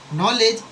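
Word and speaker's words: knowledge: Enation जो होता है नॉलेज। तो नॉलेज क्या है? नॉलेज में भी के क्या है? साइलेंट है।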